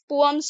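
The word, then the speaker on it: poems: इसको पोयम्स नहीं पोअम्स पढ़ेंगे, ठीक है, पोयम्स भी पढ़ सकते हैं बट इसका सही उच्चारण पोअम्स है।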